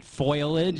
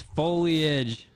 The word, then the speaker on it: foliage: Nu killar momento foilage or laric it's not foilage it's foliage thought you do especially well on this one